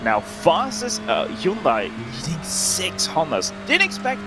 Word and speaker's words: Hyundai: wheel driver of a hyundai would be saying that uh it's hyundai like sunday i think is the